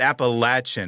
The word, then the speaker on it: Appalachian: So it's you said Appalachian, I think, right? Is that? Yeah, that's how we've always said it. Yeah. But other people pronounce it other ways, right? I mean, I've heard it multiple ways. Sure. Okay. Yeah. So it's not really a wrong way. No. We just there's just several ways to say it.